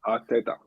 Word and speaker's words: Arteta: It's pronounced Arteta.